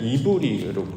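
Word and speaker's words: עברי: 이걸 히브리 서라고 하죠 원래 히브리의 원 원래는 이브리 출발을 하죠 이브리 아는 말에 어 히브리어 접두사 해가 붙어서 히브리 아는 발음으로 부르게 됩니다 자 이브이는 무슨 뜻이냐면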